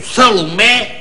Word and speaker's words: Salomé: Por exemplo, Salomé é que é aguda. Olha, a Salomé, a tua Salomé é a vizinha mais estúpida que eu tenho lá na rua. É burra que nem uma porta, a Salomé.